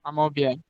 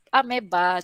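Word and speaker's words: amoeba: Amobia. Amobia, Euglena lain. Okay. Amobia. Ameba, cara pronounce dia.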